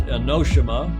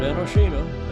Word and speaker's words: Enoshima: Venue, of course, is Enoshima, not Enoshima. Enoshima is how the Japanese pronounce it.